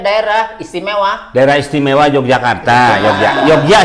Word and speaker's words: Yogya: Yogya sebenarnya Yogya. Yogya. Ya, bukan Jogja, bukan Cuman J. karena ejaan Betawi Jogja aja. Bukan ejaan Betawi, orang sekarang. Karena tulisannya J sebenarnya itu Y.